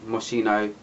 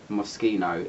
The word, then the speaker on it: Moschino: That's my review of Cheap and Chic by Moschino / Moschino if you're from London and you're pronouncing it in a different way.